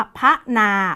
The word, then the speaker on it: พนา: ที่ 2 นะ คะ คำ อ่าน จึง เป็น พระนา เรา ไม่ อ่าน ว่า พระ หนา นะ คะ ต้อง อ่าน ว่า พระนา ออก เสียง ตาม ปกติ เลย ค่ะ พนา อีก คำ นึง